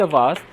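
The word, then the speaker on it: vase: The flowers in द इन द वास वास वस अलग-अलग लोग इसको प्रोनाउंस करते हैं।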